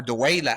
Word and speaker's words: dawla: Dawla or Duwayla actually is the proper pronunciation, is a term or